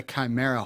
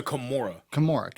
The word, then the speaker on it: Kimura: Is it a chimera hold? It's a Kimura. Not chimera. It's not chimera. Okay, we're not going with Greek mythology. No. Okay, Kimura. Say Kimura.